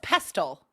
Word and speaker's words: pestle: and I could imagine I thought it was pestle no it's well it's pronounced pestle but there is a t in the word